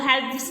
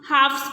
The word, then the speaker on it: halves: इसे हम हाफ इसलिए रीड करते हैं क्योंकि इसमें एल साइलेंट होता है. इसको हेल्प्स नहीं पढ़ेंगे, हम हाफ्स पढ़ेंगे. एल is silent here, so वी इट is called हाफ.